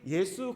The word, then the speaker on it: 예수: 겁니다 자 우리가 흔히 예수 그리스도 라고 이렇게 묶어서 부르기도 하지만 2분의 이 존재의 이름은 예수 입니다 예수 예수 라고 하든 이 이름은 헬라어의 발음 이구요 가 그리스식 발음 이고요 원래 구약의 히브리어 에